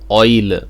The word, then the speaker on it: Eule: have one of them it's an oil again two syllables and if you ask